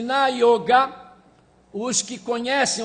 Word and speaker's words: yoga: As pessoas falam yoga, mas é yoga, a pronúncia certa.